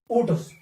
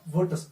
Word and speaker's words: Wurtz: कहां किताब लिखना, ओटस, यू को वो डब्ल्यू को वो साइलेंट करता है, वो पढ़ता है ओटस रिएक्शन। आप ओटस पढ़ो या वुर्ट्स, दोनों नाम सेम है।